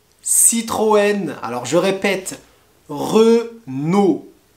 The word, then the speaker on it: Citroën: a les marques de voitures comme renault peugeot citroën alors je répète re nos re noé pas renown renault peugeot et pas peu go peugeot peugeot et citroën citroën je répète le premier c'est renault peugeot